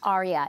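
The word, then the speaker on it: ARIA: So it does have a side effect called Arya which is amaloid related imaging abnormalities. Spell that for us. Arya.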